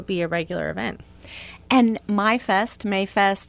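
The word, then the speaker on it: Maifest: We are full into the bicentennial year, and we are getting ready for Mayfest, sometimes pronounced MyFest because it's spelled M-A-I-F-E-S-T.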